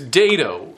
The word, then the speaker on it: dado: Oh, then of course there's dato. And that is spelled D A D O. I noticed some people were saying D- A T O. And it sounds like that when I when I say it quickly, I guess.